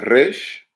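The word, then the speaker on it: ר: So the consonants that we will go over today is going to be the Resh, right? Which is pronounced R as in rain, Re, Resh.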